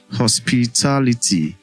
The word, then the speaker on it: hospitality: But we just looked through um hospitality is stressed on the third to the last syllable. Hospitality that is the last syllable is ty.